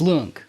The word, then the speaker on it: Luong: It's Lung. Lung. Okay, cuz I was going to say Long and I would have No, no, no, nobody ever gets it right.